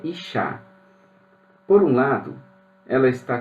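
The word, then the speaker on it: אִשָּׁה: temos uma conexão fonética a palavra mulher se pronuncia Iá a palavra homem se pronuncia is a palavra fogo se pronuncia Ash tudo é muito parecido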